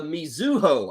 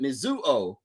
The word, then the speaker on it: Mizuho: now what is this the mizuho I think is how you pronounce it mizuo uh the mizuho Americans